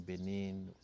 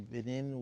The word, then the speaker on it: Benin: We are French-speaking country. So in Benin, we will say Benin. Benin is in French, the Republic of Benin. But then Japanese, we say Benin. Yes. Because they will take it from the original pronunciation, which is Benin, so it becomes Benin.